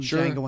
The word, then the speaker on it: Django: yes D is silent D is silent yeah now Tarantino coming out with his film Jango unchange I'm looking forward